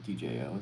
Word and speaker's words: Djo: Uh, DJO is how it's pronounced.